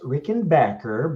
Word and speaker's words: Rickenbacker: doing what's up guys and um it's actually pronounced Rickenbacker but I won't hold you again but yeah